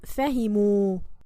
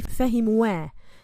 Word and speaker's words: فهموا: This alif must be written after waw al-jama'a. It's not pronounced, it must be written. Hum fahimu. Like this. We don't say fahimuwa.